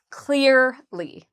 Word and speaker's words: clearly: So first of all clear is the part we stress. So we say clearly.